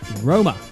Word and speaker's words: Roma: that music Amy so Rome pronounced Roma is the capital of